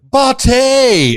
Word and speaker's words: Botte: he is man bot in the house did I pronounce that cor brother oh we delaying no what was the pronunciation of your name uh it's bate it's Italian bate oh V I think